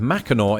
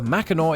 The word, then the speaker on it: Mackinac: a silent sea indeed the correct pronunciation of Mackinac is better reflected in the present-day spelling of nearby Mackinaw City which due to the